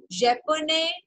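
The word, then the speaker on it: japonais: last letter is ई तो आपको एस तक प्रोनाउंस करना है so this will sound Pakistan ने ओके पाकिस्तान ने पाकिस्तानेज जापोने जापोनेज कैनेडिया Canadian okay so practice जापोने five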